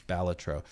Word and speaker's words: Balatro: I always wanted to say Balatro, but apparently it's Balatro.